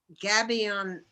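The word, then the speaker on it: gabion: what you call rock pile signs they are gabby on basket signs i spell that g-a-b-i-o-n baskin basket like a basket oh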